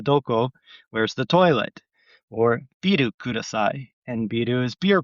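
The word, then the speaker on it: ビール: So not to be confused with bill, because they don't. If you said biru, or which is their way of making that pronunciation, they won't. They'll think you're saying you want a beer or something.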